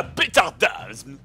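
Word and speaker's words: Bthardamz: Et j'étais à Bétardasme. C'est comme ça que ça se prononce.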